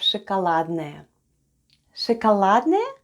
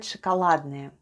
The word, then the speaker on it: шоколадное: at the end of ШОКОЛАДНОЕ /shakaladnaye/. Let's spell the word ШОКОЛАДНОЕ /shakaladnaye/. The first sound is /sh/; then goes O /o/, it's unstressed and is pronounced as /a/.